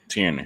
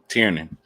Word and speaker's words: Tieran: his last name, but Caleb Tier Tieran, I think that's how you say it. Tieran out of uh how you say it? Tieran.